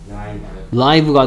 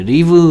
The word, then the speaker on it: live: 뭐 라이브 음악이다 할 때 리브 음악이라고 안 하죠. 뭐. 얘를 리브라고 읽느냐 라이브라고 읽냐. 그래서 발음에 따라서 스펠링은 똑같은데 발음을 어떻게 하느냐에 따라서 뜻이 달라지는 단어가 있습니다.